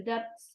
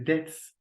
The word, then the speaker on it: debts: This means they will have to cover the debts of each part. The debts. The debts. It's V. Yeah, it's not pronounced.